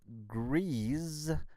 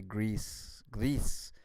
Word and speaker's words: Gris: Okay, and I also played a game called Grease, or Gris, however you want to pronounce it. Actually, Gris, as they say in Spanish, but we will talk...